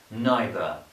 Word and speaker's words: neither: And this word, neither, I pronounce it neither, you might pronounce it neither.